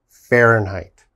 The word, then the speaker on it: Fahrenheit: We pronounce that Fahrenheit.